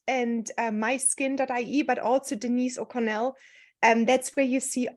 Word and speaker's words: O'Connell: don't you introduce yourself with a proper name pronunciation maybe well first of all thanks for having me Katrin and Denise O'Connell is my name you got it pretty good